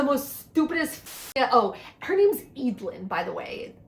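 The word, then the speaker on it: Eadlyn: And if America was annoying, Eid is the most stupidest Oh, her name's Eid, by the way. It's spelled E A D L Y N.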